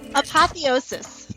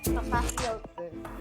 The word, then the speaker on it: Apotheosis: How do you pronounce this episode's title? Because we didn't get anybody to say it. Oh, that's right. Apotheosis. Okay. Apotheosis.